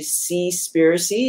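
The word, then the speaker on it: Seaspiracy: have seen the documentary see spiricy it's spelled s-e-a-s-p-i-r-a-c-y so basically the word conspiracy altered with the word conspiracy here actually we've done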